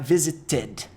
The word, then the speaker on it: visited: E o visit, que você está vendo, termina com T, visit. Você sabe que no passado, com ed, vai ficar visited. Ed, tá? Visited.